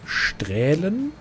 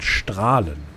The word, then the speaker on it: strahlen: Also ich habe letztens ja auch wieder das, was wir verlost haben, hieß nicht strählen, sondern strahlen. Wurde das, wird das ausgesprochen. Das E wird wohl nicht mit ausgesprochen.